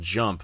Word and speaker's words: Xump: And there was this game called Jump, but instead of a J, it's spelled with an X, so it's XUMP.